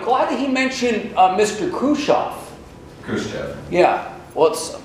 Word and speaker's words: Khrushchev: Khrushchev cursed oh yeah let's I've heard some of our friends pronounced a crew shock but anyway now he's